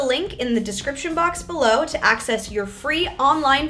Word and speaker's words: bel: "Une belle femme," "un bel homme" parce que, because saying "un beau homme" is really hard to say so ça devient "un bel homme" because there's the other voyelle très bien.